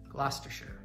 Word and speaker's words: Gloucestershire: the zester's and Chester's mostly it's ester c EST ER and the first example we'll mention is our favorite county because it's where Chilton the MS Gloucestershire Gloucestershire and then Americans